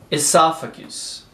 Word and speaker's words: esophagus: Esophagus. So, o S vai realmente ter som de S. É como se tivesse um acento agudo aqui. Esophagus.